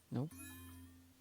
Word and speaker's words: の: No is pronounced like no in noodle.